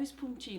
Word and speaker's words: spuntin: é que se escreve esponjinha não gente como se lê s mudo s p u n t i n falei certo fonte no isso tá